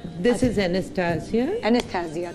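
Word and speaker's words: Anastasia: है this is एस्टिया एनिस्सिया कहते हैं इसको प्रोनाउंस करते हैं एस्स एनिस्सिया अच्छा एनिस्सिया ये कंटोर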